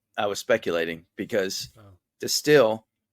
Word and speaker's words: Destihl: I was speculating because Destihl with the H is still pronounced the same as Distill with the J.